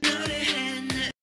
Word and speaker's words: 했: This letter is pronounced as het in isolation. Het. The final consonant sangsiot of this letter belongs to digit group, D group. But also, the final consonant sangsiot is followed by the nasal sound niun of the next letter.